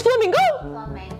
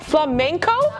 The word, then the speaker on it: flamenco: are you ready I'm not ready here we go oh is this Flamingo oh Flamenco Flamingo the animal oh shoot it's not Flamingo I've been saying it